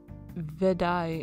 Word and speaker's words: Wutai: have to go anywhere ah i missed the glossary pronounced vedai in the rukai language wutai is located northeast